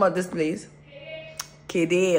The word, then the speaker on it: Kade: Kede or something, but they spell it K-A-D-E. I don't even know why it's Kede and not Kade.